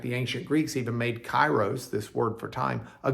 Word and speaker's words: Kairos: It's the word Kairos. Spelled with a K, or kappa, K-A-I-R-O-S, Kairos.